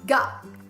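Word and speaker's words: が: Start off with ka, and you add the little symbol to it, and it becomes ga.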